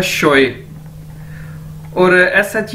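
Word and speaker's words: 学: अब next word है हमारे पास दोस्तों एक्स यू ई, एक्स को चाइनीज में शीन के तौर पर प्रोनाउंस किया जाता है, तो ये क्या है, शोए, और एस एच ई एन जी शंग, ठीक है।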